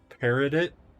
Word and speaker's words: peridot: Upon the altar gleams a tarnished gold circlet bearing a cracked peridot.